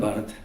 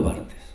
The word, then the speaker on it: Barthes: rusos y de Roland Barthes. Esas, yo digo Barthes, pero Julio ayer lo pronunció bien y ahora me da una vergüenza. Roland Barthes.